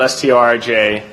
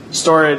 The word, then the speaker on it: Storj: So there's kind of like a friendly but heated competition between us and Storj, which is spelled Storj.